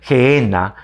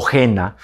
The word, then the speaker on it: Gehenna: Señor Jesús, y es la palabra Gehenna o Gena, como lo quieras pronunciar, ¿no?